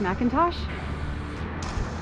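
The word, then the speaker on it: McIntosh: it could be mcclintosh that's how it's spelled but usually that's pronounced Macintosh beautiful little Lake here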